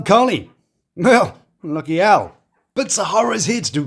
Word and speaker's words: Zeruiah: But Sahara Sahara like the massive desert.